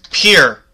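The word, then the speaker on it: Pierre: The name of this South Dakota state capital isn't pronounced like a French name, but like a synonym for dock. Player one. What is Pier? Pier, South Dakota.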